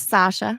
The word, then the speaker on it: Sasha: and how do you say your name it's Sasha that's why I had him do the introduction